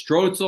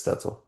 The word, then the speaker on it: Stoetzel: The way it's spelled it looks stzle, right? But it's Stetzel.